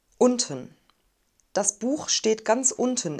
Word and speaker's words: unten: unten unten unten unten wir haben ein kurzes offenes und vielleicht habt ihr gehört dass es so ähnlich klingt wie ein wir sagen nicht unten sondern unten das buch steht ganz